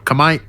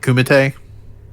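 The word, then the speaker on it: Kumite: ever tell y'all that I had a friend uh in college that actually pronounced it uh kamite this is not a bit they just refused to call it Kum that's how you pronounce it kamite come Kam I yeah it just that's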